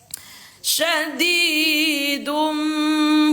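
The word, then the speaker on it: شَدِيدٌ: Syadidum, bukan dun lagi bacanya, tetapi menjadi dum sambil didengungkan 2 harokat.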